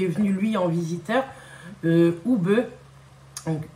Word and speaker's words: Oube: venu lui en visiteur oube donc ube je pense que ça se prononce Oub euh et j'étais trop contente